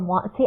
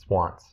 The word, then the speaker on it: Swantz: Wants or Wantzi? I don't know. I'm saying Wantzi. Swantz. It's Swantz.